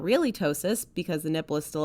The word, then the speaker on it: ptosis: rabbit hole here so first of all it's ptosis spelled p-t-o-s-i-s it's basically the degree of how